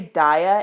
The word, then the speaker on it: Dia: just remembered i like apparently pronounced dia weird you're supposed to say daya and first of all